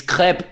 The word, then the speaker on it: crepe: All right, it's crepe. It's pronounced crepe.